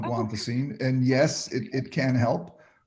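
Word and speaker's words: guanfacine: that if that's familiar to you you you pronounced it perfectly it's called guantacine and yes it can help and yes emotional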